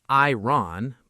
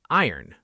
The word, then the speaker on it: iron: This word looks like it should sound like iron, but it doesn't. We say iron. The O almost disappears. Let's practice. I earn together.